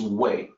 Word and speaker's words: 谓: So the second character is wei. That's the fourth pitch.